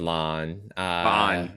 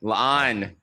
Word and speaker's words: La'an: am still struggling with Lon. La'an. Two La'an. syllables. Two syllables.